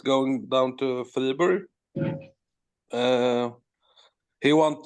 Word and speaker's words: Fribourg: How do you say it? Yeah, Fribourg. Fribourg. Yeah, that's like the French one, right?